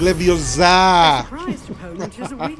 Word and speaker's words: Leviosa: It's not Levioso, it's A Leviosa.